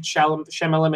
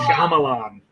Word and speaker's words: Shyamalan: Night Shyamalan Ding Dong movie again?